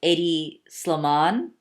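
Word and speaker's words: Hedi Slimane: no excuse my pronunciation I think his name is pronounced Eddy slow Mon and he used to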